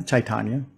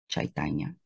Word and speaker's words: Chaitanya: my pen name okay and how do you pronounce it actually uh chaitanya chaitanya okay and try for short that's what I